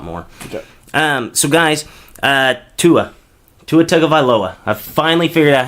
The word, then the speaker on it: Tagovailoa: So guys, Tua Tagovailoa. I finally figured out how to say his last name. I like to make it a little jingle so I remember it. Tua Tagovailoa.